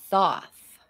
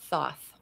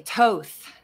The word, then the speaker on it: Thoth: say and pronounce it Thoth because it is also the word thought or think therefore Thoth many people say Toth and I don't know